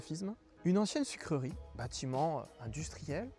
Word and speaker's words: Fismes: dans une ville que nous les sudistes appellerions Fismes. Mais ici, les gens des Ardennes me disent qu'il faut dire Fismes. Il ne faut pas prononcer le S, ainsi soit-il.